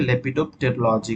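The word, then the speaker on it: lepidopterology: Moths and butterfly की study को ही mainly libido, यहाँ पे पी जो होता है साइलेंट होता है, ठीक है, लेपिडोप्टेरोलॉजी कहा जाता है।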